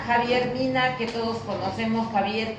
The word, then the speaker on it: Xavier: Mina, que todos conocemos, Javier, que se escribe con X en nuestro país.